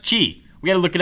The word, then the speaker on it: Qi: built into the nexus 4 that's gqi not qui or qui pronounced qi we got to look it up to make